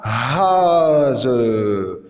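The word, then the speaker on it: Hase: Le S succédé d'une voyelle comme haz, la haz, la femelle du lièvre, haz, ou bien zi,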